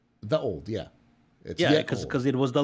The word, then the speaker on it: ye olde: When you see ye olde, it is pronounced the old.